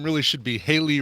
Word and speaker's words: Hayley: It should be your screen name really should be Haley rhymes with Bailey. Or Haley rhymes with or Shaylee or Kaylee.